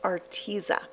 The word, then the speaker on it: Arteza: I have said the name wrong for so long and learned that it's pronounced Arteza. So if you like having